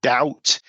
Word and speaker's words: doubt: So the T in mortgage is silent and the B in debt or doubt is also silent.